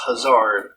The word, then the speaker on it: Hazard: category e l has hazard pronounced huzzard magnificent world there's a